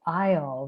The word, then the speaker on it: isle: a big revelation that the word in the word isle the letter s is silent um and so is